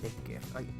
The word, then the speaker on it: Bécquer: Pues vamos a revisar a Becker con acento en la E, Becker, en la primera E, Becker, Gustavo Adolfo Becker.